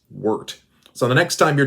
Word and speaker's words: wort: it's called the wart now i say wart because it's spelt wart however it's pronounced wort so the next time